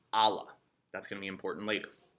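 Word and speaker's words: الله: single deity or God which in Arabic is pronounced Allah that's gonna be important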